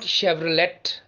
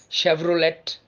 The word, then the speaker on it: Chevrolet: porsche porsche moving on to german motor company c-h-e-v-r-o-l-e-t not chevrolet or chevrolet it's chevrolet chevrolet chevrolet the fifth name is